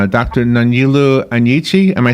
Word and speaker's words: Nonyelu Anyichie: And please correct my pronunciation of your name, Dr. Nonyelu Anyichie.